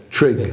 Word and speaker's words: Trygve: So how do you pronounce his first name? Trygve.